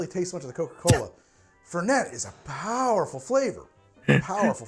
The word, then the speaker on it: Fernet: out o oh man that is you very much pronounce the tea fair I got to say don't taste much of the Coca-Cola fette is a powerful flavor